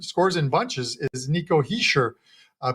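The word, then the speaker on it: Hischier: in bunches is Nico hisher uh pronounced they write that guys there's no R in there Nico he sure and he's plus 155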